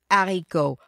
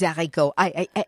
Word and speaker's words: haricots: And those are, for me, the hardest things to pronounce. Oh, yeah? Oh, I hate it. Les haricots.